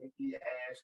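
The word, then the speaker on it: Nikki A.S.H.: Quit calling her Nikki Ash. She's what... not Nikki Ash. It's Nikki ASH. So you're just supposed to spell it? Yep. I guess because people kept saying Nikki Ass.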